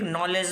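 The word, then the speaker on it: knowledge: भाई साइकोलॉजी यहां पे फिर नॉलेज में नॉलेज में के और डी साइलेंट है नॉलेज डाउट में बी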